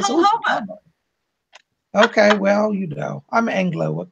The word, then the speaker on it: jojoba: I used to pronounce that jojoba, and I only recently learned I had said that wrong all this time. It's jojoba.